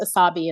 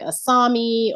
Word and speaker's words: Asabi: because you I'll say oh my name is asabi and I'll get something like aami or there's some other name that they repeat aani and I'll say no